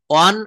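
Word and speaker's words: one: কোন শব্দের শুরুতে যদি ও থাকে এবং তার উচ্চারণ যদি ওয়া এর মত হয়। একটু মনে রাখবো। দেখেন ও থাকলে এর উচ্চারণ ওয়া হবে। যেমন আই স এ ওয়ান eyed man.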